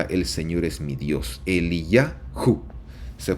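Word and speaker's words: אליהו: paso Elías significa el señor es mi Dios él y yaho se pronuncia así la palabra el nombre de Elías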